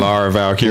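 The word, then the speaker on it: Lyra Valkyria: Laura Valkyrie.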